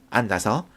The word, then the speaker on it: 앉아서: 앉아서 역시 어미가 왔기 때문에 이 지읒을 디음절 첫 소리로 옮겨서 앉아서 넓이 역시 조사기 때문에 비읍을 디음절 첫 소리로 옮겨서 넓이라고 발음하는 거예요.